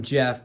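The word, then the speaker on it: Geoff: I named him Jeff, but it's spelled G E O FF.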